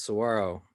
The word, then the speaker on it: saguaro: you know being not from arizona i'd say saguaro but they say if you're if you live there that's how you pronounce it as saguaro yep that's that one i love so much